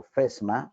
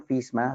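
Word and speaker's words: FSMA: Safety Modernization Act, o FESMA, no le digan FISMA, si oye feo y está mal pronunciado, digan FESMA.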